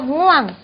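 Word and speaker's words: ง่วง: nguang 자 이것도 ngau와 마찬가지로 우앙이 아니고 표시는 이렇게 했으나 한 번에 발음해 주세요. nguang 졸리다 네 비슷합니다.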